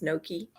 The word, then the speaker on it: gnocchi: right I love that I always want to say the g but I think it's just gnocchi I think it has